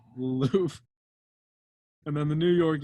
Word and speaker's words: Louvre: York Harbor, the Mona Lisa is stolen from Louvre, if that's you pronounce that. It's in France. The Louvre. What? It's the Louvre. Louvre.